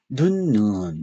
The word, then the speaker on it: 눈: 요거하고 요거 최소 대립상으로서 6번 눈을 짧게 발음하면 우리가음 바라보는 눈이 되죠 그요 표시는 요거는이 눈에서 거는 눈에서 뭐를 우 우를 길게 발음하는 뜻입니다 눈에서 눈 이렇게 눈 모음을 길게 발음하는 겁니다 걸 길게 발음하면요 뜻이 뭐가 돼 에서 내리는요 눈이 되잖아요 그죠 뜻이 달라지죠 어